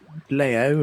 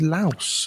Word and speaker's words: Laos: Um, and I've checked and it seems to be pronounced Laos after all the back and forth. I was calling it Leo and Laos. You're calling it Lao. It was Laos apparently.